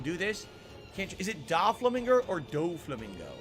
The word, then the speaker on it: Doflamingo: huh doe Flamingo it's pronounced doflamingo what's this giant statue